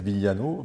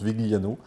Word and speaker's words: Vigliano: le prononcer à l'italienne alors à l'italienne c'est Viano mais bon je le prononce Vigliano voilà j'ai des origines italiennes mais qui commence